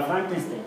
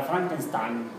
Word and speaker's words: Frankenstein: O ha leído la novela del monstruo de no era Frankenstein, era Frankenstein.